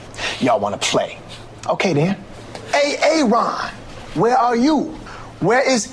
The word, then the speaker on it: Aaron: A.A. Ron. Here. Why didn't you answer me the first time I said it, huh? Because it's pronounced Aaron.